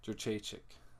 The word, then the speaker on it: Jędrzejczyk: I can't pronounce her last name. Joanna versus Karolina Kowalkiewicz. Jędrzejczyk.